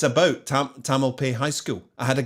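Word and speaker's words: Tamalpais: is there a silent is it Tamil p is it a silent s in the end where's the emphasis in the word I'm fixated by saying things properly so we're gonna say Tamil pay hopefully that's right Tamil pays so David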